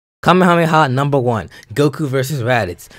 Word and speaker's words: Kamehameha: Omaha was based on King Kamehameha from Hawaii so before England says that I'm not pronouncing it right kamehameha technically is our correct pronunciation of kamehameha and even said in